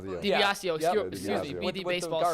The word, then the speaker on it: DiBiasio: This was from Bob DeBasio. I'm going to say his name. DiBiasio.